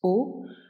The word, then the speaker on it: aux: O, A, U, X. Aller plus la préposition AUX qu'on prononce O plus un pays pluriel,